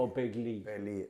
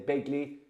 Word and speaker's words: O'Begley: like correcting you, but Darrow Canada told me it's like the River Lee. So although it's spelled Lee, it's Lee. So O'Begley. Okay. But make it big, because if they say Begley, they'll hammer you as well.